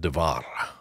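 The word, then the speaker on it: דבר: One speech, that word is pronounced devar, and it means saying the same words.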